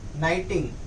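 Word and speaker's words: knitting: एन जी ठीक है के बोलने के टाइम प के नहीं बोलना है डायरेक्ट एन से स्टार्ट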